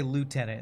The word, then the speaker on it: lieutenant: I guess it a gh is used in for an F sometimes, but we say lieutenant in the US.